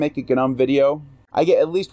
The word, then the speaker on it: Gnome: I'm going to pronounce it Gnome because I know what an acronym is, but if whatever.